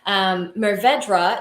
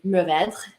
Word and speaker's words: Mourvèdre: But the proper way to say that word would be very French, and it is Mourvèdre, which is, I know that's a butchering.